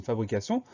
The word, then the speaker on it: fabrication: Donc la seule difficulté, c'est la syllabe sion qu'on écrit T-I-O-N. Fabrication, F-A-B-R-I-C-A-T-I-O-N.